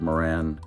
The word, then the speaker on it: Marans: to talk about the the pronunciation of the word Moran and why the S at the end is silent why I I don't